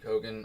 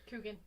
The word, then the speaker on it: Coogan: Liked Thing, liked Lurch, Nick Kroll's Fester voice, as a throwback to Jackie Cogan. I'm mispronouncing that wrong. Coogan.